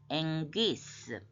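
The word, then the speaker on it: ἐγγύς: 감마는 그지만 이렇게 연속으로 할 때는 앵귀스 앵 앞에 거를 응소리로 해서 앵귀스 가이로스는 남성명사인데 때 옳은 때 특히 하나님의 때가 옳잖아요.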